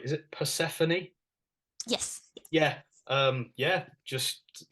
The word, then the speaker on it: Persephone: one is and I don't know if I'll pronounce this right is it Persephone yes yeah um yeah just tell us about